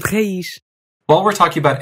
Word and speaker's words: raiz: But at the ends of words, if you see a Z, you're going to make an unvoiced SH sound. That gives you words like nariz and raiz.